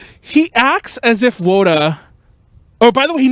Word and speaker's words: wota: might point it out, yes, Wota, or some people pronounce it Oda, is a shortening of otaku, but it's the accepted term for like an idol fan.